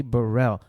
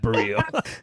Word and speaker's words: Bereal: hey buddy oh no it's me burrell not brielle i'm not a rapper